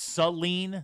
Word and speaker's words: Saline: House Attorney says it's Saline, not Saline.